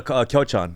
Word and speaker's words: Kyochon: Oh, the Kyochon.